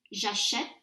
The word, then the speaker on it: j'achète: And again, you can hear that difference in pronunciation. Répétez après moi, acheter, j'achète, tu achètes, il achète, nous achetons, vous achetez, ils achètent.